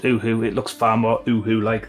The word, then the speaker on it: Uhu: Apparently I should, because I'm an English-speaking country, pronounce it Yoo-hoo. I've never pronounced it Yoo-hoo, I've always pronounced it Uhu.